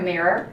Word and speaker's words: mirror: The first vowel is ear like ear together. Mirror. Mirror. We use like burger. Put it together.